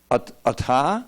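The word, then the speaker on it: अथ: like this it's forwards at aha and utter a th a means therefore I think now look it up and utter ata without the H sound very scientific language every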